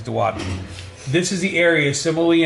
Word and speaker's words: duodenum: intestine here, which is called the duodenum. Okay, or duodenum. Sometimes you'll hear it pronounced. The correct pronunciation is duodenum.